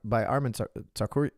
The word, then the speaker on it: Tsarukyan: I think now, after that performance with Arman Tsarukyan, excuse me.